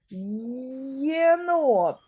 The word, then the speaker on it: єнот: який там перший звук нема звука є Ні буква є існує а звука є немає ти вимовляєш одразу два звуки єнот перший звук й й й це М'який приголосний